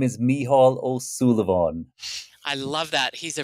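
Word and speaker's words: Mícheál Ó Súilleabháin: let him say his name my name is mihal O Sullivan I love that he's a renowned poet singer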